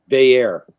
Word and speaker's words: Veilleux: Christian Veilleux. Veilleux. Didn't see that one coming. Nothing like it's spelled whatsoever.